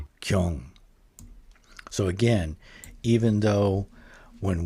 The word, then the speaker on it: 경: to my ear, the this initial G sound in Korean actually sounds much closer to a C sound, but it's not it's not aspirated or it's not aspirated very much.